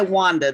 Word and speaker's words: Wanda: or either one i go by wanda the latin pronunciation but i'll answer to